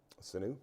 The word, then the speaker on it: Sanu: Patriots got stronger man who how do you pronounce his name sinew sinew thank you Mohamed Sanu yep Mohamed Sanu he gets traded from the